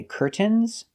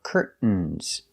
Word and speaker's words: curtains: We have two correct pronunciations. You can say curtains pronouncing a t or curtains making a stop t curt and then fall to the n curtain.